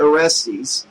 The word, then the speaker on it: Orestes: Sawyer Orestes, rhymes with testes, haha, had been the first to volunteer for a reconnaissance mission.